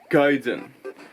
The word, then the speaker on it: Gaiden: It's not Gaiden, it's Gaiden.